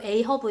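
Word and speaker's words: Ahab: 그리고 이제 여기에 그 주인공인 에이허브, 영어 발음으로 에이허브 이제 선장이 나오고, 그 다음에 이제 1등 항해사 이름이 뭐다?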